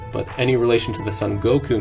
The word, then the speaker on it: Son Goku: But pronounced in Japanese, Son Goku.